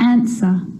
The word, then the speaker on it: answer: The letter W is silent when it's at the start of a word before the letter R, like wrong and wrist, and right or wrote. It's also not pronounced in these common words: who, whoever, whole, to, sword, and answer.